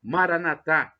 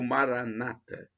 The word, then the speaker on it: Maranatha: do aramaico Eu Clamo Maranatha como dizem os católicos com a tônica na última sílaba ou Maranata como dizem os protestantes evangélicos nossos irmãos separados com a tônica na penúltima sílaba não importa essa pronúncia